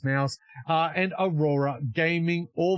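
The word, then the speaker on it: MOUZ: Also in stage three, we have the Mongols, Furia, Mo, um or Maus, it's pronounced mouse, uh and Aurora Gaming,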